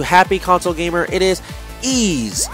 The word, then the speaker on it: Ys: Ys was through him, the official way, and I always called it, like everybody else called it, Wise. Because all you spell it is Y-S. That's it, Wise, So Ys.